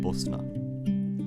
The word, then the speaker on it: Bosna: Bosnia in Bosnian is pronounced Bosna named after the river that runs through it.